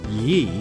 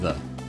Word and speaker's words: ye: that you know actually the Yi in ye oldie signs Etc actually would have been pronounced the it's just the way they wrote him back then should a bit of